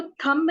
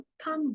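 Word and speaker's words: thumb: इसी के साथ साथ थंब है, उसको थंब नहीं बोलते, बी साइलेंट होता है, उसको हमेशा हम थंब बोलते हैं, थंब।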